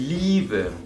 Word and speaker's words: Liebe: Si acabamos de hablar de E, I con ay, luego tenemos I, E, que se pronuncia como una I. Como por ejemplo, Die Liebe, el amor. Die Liebe, también la hace la larga la I, ¿no?